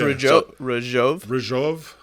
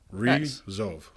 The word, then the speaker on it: Ryjov: thought I nailed it so it's Raj ROV got it like pronounce that it's like yeah r i z h o v is the like pronunciation re ROV yeah what is that